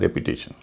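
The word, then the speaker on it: repetition: रेपिटेशन, दोहराव, इसमें भी TION से पहले 3 वावल हैं, उच्चारण हो रहा है रेपिटेशन।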